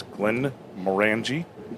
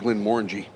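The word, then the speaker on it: Glenmorangie: It is Glenn Morani. Actually, it's Glenn Morangi. Morangi. That's it. Morangi.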